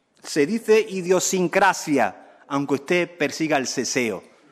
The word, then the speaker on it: idiosincrasia: legal del castellano mire no se dice idiosincrasia se dice idiosincrasia aunque usted persiga el